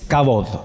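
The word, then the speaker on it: כָּבוֹד: del Antiguo Testamento dice que es cabot, así se pronuncia.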